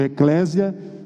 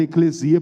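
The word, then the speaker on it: ἐκκλησία: algumas pessoas produzir o eclésia mas a pronúncia correta ecclesia porque a letra sigma que é o nosso s só se pronuncia assim com som de s mesmo e nunca consumo dizer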